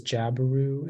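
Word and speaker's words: jabiru: hello uh your word is jabaroo um can I please have all the information yeah so only pronunciation is jabaroo it's a noun and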